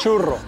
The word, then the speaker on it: churro: Churro. Churro. Yeah. I know it's difficult to pronounce for Chinese people because the R is churro.